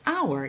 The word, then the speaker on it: hour: Because the letter H in the word hour is a silent letter. And so this word actually starts with a vowel sound a.